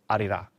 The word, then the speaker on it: Arirang: The album is called Arira. Yeah. Oh, you sound Good pronunciation. Wow. Yeah, Zane Lowe knows what he's talking about. He's done his research. I struggle with it a bit, and it's because the R's are very different to English R's, but I try.